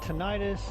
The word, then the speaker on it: tinnitus: there's tinnitus, tinnitus. There's different ways they pronounce.